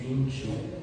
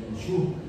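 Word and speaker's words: Yinxu: La ciudad de Jinshu. ¿Cómo se escribe?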